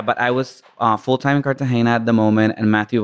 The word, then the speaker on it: Cartagena: A lot of people pronounce it Hena, but it's Cartagena.